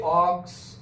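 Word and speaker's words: ox: তাহলে ও উচ্চারণটা হচ্ছে কি? অক্স। ওটা কি হচ্ছে? অ হচ্ছে। দেখো ওটা কি হচ্ছে? অ হচ্ছে। তাহলে কি বসাবো? অ্যান বসাবো, কারণ এখানে ভাওয়েলের উচ্চারণটা ও, পুরো শব্দটা উচ্চারণ করো অক্স, তাহলে ও হলো অ, তার জন্য অ্যান।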